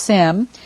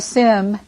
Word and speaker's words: Syme: He married a young widow named Sarah Syme, and she became Sarah, well, it's actually pronounced Sim, Sarah Sim Henry.